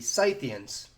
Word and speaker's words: Scythian: of which were the scythians oh wait scythians so you're telling me that despite being spelled almost identically to the english word scythe it's pronounced scythian like a sith lord i swear the english